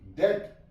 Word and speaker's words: debt: DEBT, डेट, B silent है यहां पे।